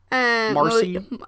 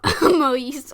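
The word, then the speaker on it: Maryse: Marcy? Maurice.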